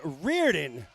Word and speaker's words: Riordan: Aaron Swann from WPI takes third so Sean Riordan from Brandeis your B flight winner Sean Reardon with the win there in Lane five sorry Mike appreciate the update on the pronunciation will move into the a final here